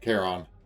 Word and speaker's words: Charon: I don't like how they pronounce Carone. I mean, because I just got to playing Hades, where he has named Charon, and I just prefer that pronunciation.